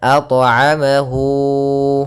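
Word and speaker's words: أطعمه: Kemudian at'amahu, nah, pada lafal at'amahu di sini ada qalqalah pada huruf ta.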